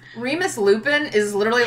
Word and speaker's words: Lupin: No, because it's Lupin. It's a flower. It's not lupine. It's spelled like the flower.